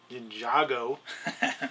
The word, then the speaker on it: Ninjago: men or I'm sorry the uh ninj Ninjago is the way they pronounce it uh stuff there and